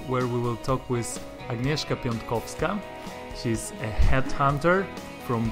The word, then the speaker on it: Agnieszka: Did I say it right, Agnieszka?